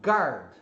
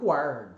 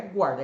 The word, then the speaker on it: guard: Então, quando é GUA, você fala GA, como se fosse o GA em português. Então, por exemplo, a palavra guard. Ó, a pronúncia escrita aqui, guard.